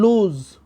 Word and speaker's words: lose: And the right pronunciation that is given here between two slantic lines, that is the phonetic transcription, loose, and L-O-S-E is pronunciated as lose. Loose and lose.